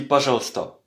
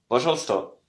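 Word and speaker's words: пожалуйста: Alors c'est écrit pas jalousista mais on dit pas jalsta. Pajalsta pasalsta.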